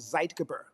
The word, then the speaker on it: zeitgeber: Uh light is one of the biggest and it's also it's it's a German word. It's called zeitgeber.